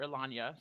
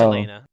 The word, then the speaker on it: Elena: session everyone called her elania so it doesn't really matter it's elena it's elena it's a george lucas name so it's spelled the way it sounds elena um you're gonna